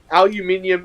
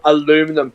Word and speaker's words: aluminium: Aluminium is the correct way to pronounce it, but because you guys can't pronounce aluminium, you go aluminum.